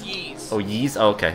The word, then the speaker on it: Ys: It's pronounced Yeez.